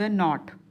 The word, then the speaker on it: knot: द नॉट, अब ये है KNO वाला नॉट, इसमें K साइलेंट होता है.